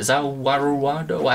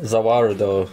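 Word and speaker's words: Za Warudo: Zawaruado? How do you say it? Zawarudo. Yeah, it's just the world.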